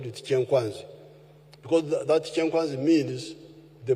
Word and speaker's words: Kyankwanzi: When you hear this kyenkwanzi, which the Waganda mispronounce as kyankwanzi, it is kyenkwanzi.